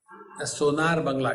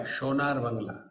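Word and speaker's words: সোনার বাংলা: You know, in Bengali, sa is pronounced as sh. They don't say Sonali, they say Shonali. Sonar Bangla, Shonar Bangla.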